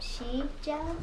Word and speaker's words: Sijo: It's pronounced Sijo.